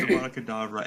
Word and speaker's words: Avada: Yeah, also it's pronounced Avada anyways. It definitely said Avada Kedavra.